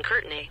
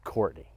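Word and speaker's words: Courtenay: tomorrow no rain is not expected tomorrow in curtney the forecast is 20° and partly cloudy it's pronounced Courtney but fine what if I lived on the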